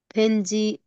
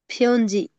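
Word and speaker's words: 편지: Father आबा जी आबा जी एक के स फेंजी फेंजीरल से सोयो देखिए ये बावेल क्या है, अभी तुरंत बताया ना, इसका प्रोनाउंसिएशन आपको सुधारना पड़ेगा जी। फ्योंजी हाँ आप इसको क्या पढ़े थे फ्योंजीरल पहले बताइए, फैन जी।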